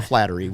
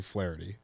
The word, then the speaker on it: Flaherty: the MLB uh pronunciation is it actually Flaherty is that how they have it in the book off the top of your memory I believe so it should be because that's the correct way to announce it